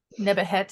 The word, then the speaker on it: Nephthys: are specifically followers of Nephthys, Egyptian goddess of The harvest? imperial rights. How do you spell it? If I can write it. Ah, got it. Nebuhet is the Egyptian pronunciation.